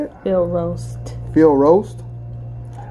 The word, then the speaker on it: Field Roast: Field roast.